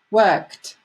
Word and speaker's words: worked: And again, many people have problems with the pronunciation of kt, kt, kt. And they say cut, cut. So no, worked.